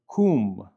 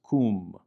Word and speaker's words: kum: Other times it will represent a U vowel, as in the word kum, which is a command meaning arise. Kum, kum.